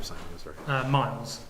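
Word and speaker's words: Myles: Miles. Miles. Same as with an M-Y-L-E-S.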